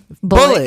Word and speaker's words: Bullitt: yeah the Beast of bullet County it's very buet bullet number one with a bullet the beast but it's not spelled like bullet how you would think no an